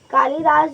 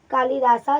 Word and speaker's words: कालिदास: कालिदास जो है, कालिदासा जिन्हें इसमें लिखा गया है, उन्हें प्रोनाउंस करेंगे कालिदास, ठीक है।